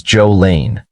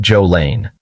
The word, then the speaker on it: Jolene: The family pronounced Jolene's name as Joe-lean, not Joe-lane.